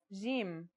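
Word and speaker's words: جيم: is easy to pronounce it's somewhere between a g and a j depending on the accent for example Standard Arabic Syrian or Egyptian in Standard Arabic and Syrian Arabic it should sound like the J in the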